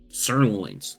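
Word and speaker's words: psurlon: heard of them okay sirons starts with a p p is silent sirloins sirloins so now these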